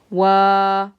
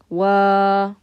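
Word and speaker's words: وا: I'd have the W sound. And then the alif is the long vowel here. Wa. Wa. That would be the sound.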